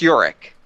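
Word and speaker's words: Yorik: So, I guess this is supposed to be pronounced Yorick.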